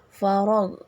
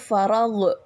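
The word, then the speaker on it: فرغ: farag farag farag ya farog bukan farag farag ya gak boleh dipantulkan karena bukan qalqala kemudian faragtaob fansob Nah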